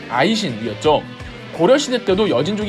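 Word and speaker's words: Aisin: 검색합니다 이 나라 이름이 금 이였고 여 징어 발음으로는 아이신 이었죠 고려시대 때도 여진족 인 금나라를 세운 적이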